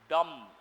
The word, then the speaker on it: dumb: Another word is dumb. B is silent.